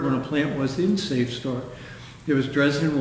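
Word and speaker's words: SAFSTOR: Safe store.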